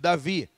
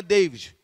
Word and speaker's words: David: dedo de mudo de Davi tem um de no final ele não é mudo e não foi feito para ser mudo mas o meu nome é Davi não é Deivid se fosse Estados Unidos